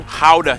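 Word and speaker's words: Gouda: joy of the nation how to cheese yes that's how you pronounce it guys oh and keep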